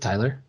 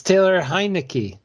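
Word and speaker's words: Taylor Heinicke: So Tyler, is it Tyler? no, It's not. Is it Taylor? no, it's Taylor. No, Yeah, don't lie to me. I'm 94% sure. It's Taylor Heineke.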